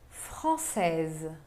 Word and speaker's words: française: Pode ver que o S no masculino não se pronuncia porque se trata da consoante final da palavra e já française se pronuncia o S porque tem um E depois.